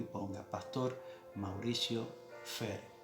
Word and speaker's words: Fehr: Y si quieres seguirme, sígame y ponga en YouTube, vaya a YouTube y ponga Pastor Mauricio Fer. Fer se escribe F-E-H-R.